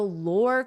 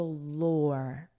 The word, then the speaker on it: lore: The lore created around the bar, the lore. For pronunciation, notice it's the same as or, and then just add an L, lore.